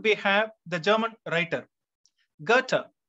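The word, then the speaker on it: Goethe: have the german writer gata g o e t h e it is pronounced garter in english and his work autobiographical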